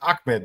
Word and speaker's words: Ahmed: It's pronounced Akmed. There's some there's a K in that one too somehow.